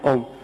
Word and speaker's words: ओम: नाभि से आवाज निकालना चाहिए, आ आ, हृदय तक पहुंचते ओ, कंठ तक ऊ, और जिह्वा से बाहर निकलते समय मां, आ ओ ऊ मां। ऐसे उच्चारण करेंगे तो उच्चारण ध्वनि से निकलेगा।